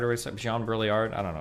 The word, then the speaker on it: Baudrillard: It's pronounced Baudrillard.